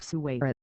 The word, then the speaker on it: suwayra: In classical Arabic, the noun is sur with plain / s / and /r/ diminutive suwayra.